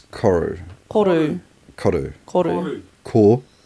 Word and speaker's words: Koru: How does one pronounce Koru? Koru.